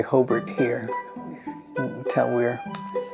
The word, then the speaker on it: Hobart: Hobart was such a dead zone with all the